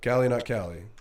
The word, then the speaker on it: CalieNotCali: it's the same name, just, and but I have do to you spell spell that it? for you because you're not gonna know. CALIENOTCALI. So, Callie, not Callie.